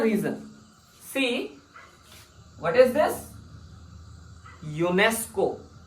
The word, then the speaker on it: UNESCO: there is a reason see what is this UNESCO not UN ESC or we don't say this UN ESU we say